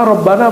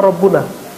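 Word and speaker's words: رَبَّنَا: Kalau kata-katanya sudah bentuk idhofah, mudhofun ilaih, ya frase barangkali dua kata, maka tidak dibaca malikul mulki, bacanya ya malikal mulki. Coba antum doa Rabbana apa Rabbuna?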